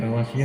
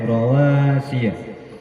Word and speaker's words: رواسي: Rawasia tadi masih panjang dibaca ya? Ya, masih panjang ya. Itu nanti pendek ya. Rawasia. Ianya pendek ya.